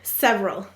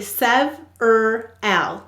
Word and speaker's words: several: need several volunteers several how many syllables in several hmm so it's actually sev er l so there's three syllables you might think you're only saying two but it's sev er al so what will we